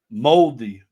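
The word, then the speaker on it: mouldy: Uh, Moldi Moldi is how you pronounce it. Pronounced moldy or moldi. He was moldy last night. Moldy. Moldy. He was moldy last night. I'll spell it for you. M O U L D Y.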